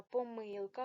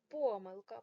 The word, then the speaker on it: помилка: великої літери поставте кому помилка можна помилка говорити тут подвійний наголос і другий ребус є